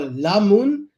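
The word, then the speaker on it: lamoen: So we say lemon, L-I-M-O-E-N, or lamoon, L-A-M-O-E-N, which is lemon, or orange.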